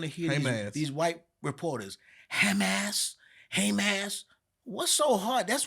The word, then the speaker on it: Hamas: bombed the Israelis Hamas so you understand the pronunciation right Hamas now just like when I'm in Spanish class with white people they said the name is Hamas right ham it's very easy to pronounce you are always going